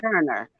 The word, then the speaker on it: Werner: And the W is pronounced like with a V in German, so Werner.